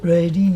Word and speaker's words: Reading: The locals always remind me about Reading. Reading, yes. Yeah, Reading is how you pronounce it.